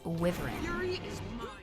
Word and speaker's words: wyvern: So in our Guild Wars universe, it's Wiv-ern.